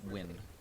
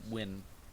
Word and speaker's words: Nguyen: jamesan no James win it's pronounced win n guu ye n Nan it's pronounced win with Alan B Whitney